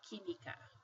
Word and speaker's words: química: So, for example, if we have this right here, chemistry, we don't pronounce it química, we say química, like this. That QU sounds like a K.